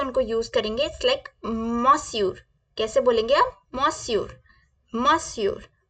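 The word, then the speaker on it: monsieur: तो हम कैसे उनको यूज करेंगे इट्स लाइक मसूर कैसे बोलेंगे हम मसूर मसूर मसूर प्लीज रिपीट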